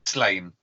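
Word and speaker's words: Sláine: We generally have a policy that it's Slain. Right. Just because I'm fairly sure somewhere there's a couple of rhyming couplets that don't work unless you say Slain.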